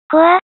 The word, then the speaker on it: 幸空: 年、名前は、幸空、と書いて、コア、と、読みます。